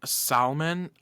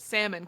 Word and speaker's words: salmon: no and I'm salmon I've never heard someone say it with an L have you but is salmon I have heard people